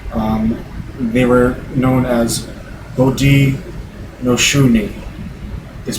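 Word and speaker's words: Haudenosaunee: own native language um they were known as Bodi noi is pronounced umod shuni or it roughly translates into English um the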